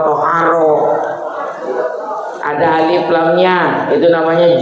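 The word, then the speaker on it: طهارة: Yang benar bacanya thaoharah. Jangan tharoh. Thaaharah.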